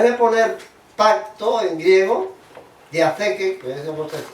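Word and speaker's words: διαθήκη: pues en vez de poner pacto en griego, diatheke, que es como se pronuncia en griego, puso en latín testamentum.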